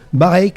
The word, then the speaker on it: Barreix: Pour ce faire, on a comme premier invité Monsieur Jean-Michel Bareix, est-ce que j'ai bien prononcé ce nom, tout va bien?